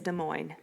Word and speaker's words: Des Moines: People pronounce Des Moines, Des Moines. Yeah, Des Moines. Oh, gosh. It is Des Moines.